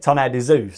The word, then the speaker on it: Tonnerre de Zeus: But of course, in French, how that's pronounced is de, isn't it? Tonnerre de Zeus.